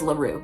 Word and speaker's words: La Rue: I do have to Google it to make sure cuz if I if I confidently say it's Laroo and then it's something else, I'm going to be It is Laru.